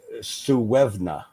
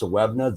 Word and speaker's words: Suibhne: The Suevna name which is actually spelled Suibhne. It's actually pronounced Sewevna.